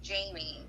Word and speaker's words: Jaime: I think the only one I didn't know for sure was Jaime, because sometimes people spell it that way and it's Jamie, but I'm guessing, it's Jaime and it's some form of Spanish descent, because that's how I would say it would be Jaime.